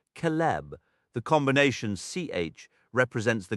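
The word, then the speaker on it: celeb: The letter C always carries the sound of K even when preceding E or I. Thus, a word like celib meaning silver is pronounced calb.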